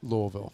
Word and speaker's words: Louisville: saying Louisville and now I've been corrected it's Louisville it's I always say you say it the way the locals say it so same I always grew up